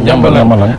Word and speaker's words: Niambalang: C'est bien ça, on prononce Nyambalang.